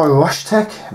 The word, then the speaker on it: RSHTECH: This is by RSHTECH, that's how you pronounce it, which is RSHTECH.